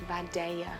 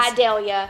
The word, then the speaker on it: Vidalia: of the vidalia onion and it's vadaya where i'm from there are actually two correct pronunciations and you are saying one of them correctly idealia you can't vidalia okay but you can also really draw out that southern draw and say by daiya girl do you love